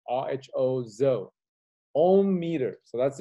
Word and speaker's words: rho: here is zo zo agree letter zo his pronunciation is rho zo ohm meter so